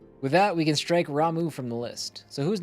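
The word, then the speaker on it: Ramuh: future Raiden I'm right it is ramu it's not Rama so you got you you specifically you made fun of me they say it as ramu in this game so suck it hi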